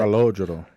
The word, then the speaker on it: Calogero: Calogero. Yeah, I can't pronounce this name, but... Calogero.